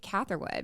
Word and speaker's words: Catherwood: This is Barbie Quinn, and I have a special guest with me today, Mike Catherwood. Yes. Did I say it right? Mm-hmm. Like yeah. catheter. Yeah.